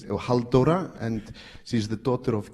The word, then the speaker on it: Halldóra: Pronounce the name again for the audience. Geirharðsdóttir, Halldóra, and she's the daughter of Geirhard, like I'm the son of Erlingsson.